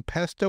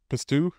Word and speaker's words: pesto: 10 oz sirloin steak six teaspoons fresh green pesto or pisto pesto how do you say pisto pesto they still pesto yeah they're both pesto p s o and then one p i s t o u pistu there you go pist like that's not pesto